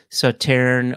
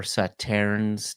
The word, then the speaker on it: Sauternes: So for those that don't know, Sauterne or Sauternes, depending on how you want to pronounce it, it's a French dessert wine, right?